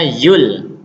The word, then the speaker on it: Joule: MB apa itu yaitu Zul bacanya Yul tulisannya Joule Tapi bacanya Yul kalor itu mempunyai juga